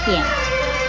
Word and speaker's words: 片: 片子的国语注音是拖燕片四声片，片四声片。